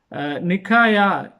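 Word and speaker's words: Νίκαια: இந்த நகரம் வந்து இப்பொழுது வந்து துருக்கியில் இருக்கிற டர்க்கியில் இருக்கிற இஸ்னிக் என்ற நகரத்தில், அது பழைய பேர் வந்து நிக்காயா என்று, அதாவது கிரேக்க மொழியில் நிக்காயா NIKAIA என்று ப்ரொனவுன்ஸ் பண்ணி எழுதி வைத்திருக்கிறார்கள்.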